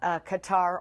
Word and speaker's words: Qatar: i know recently uh qatar or cater depending on on the pronunciation preference uh has announced that it's